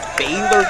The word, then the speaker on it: Baylor: It's Baylor University.